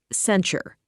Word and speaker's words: censure: Pronounced sen-sure.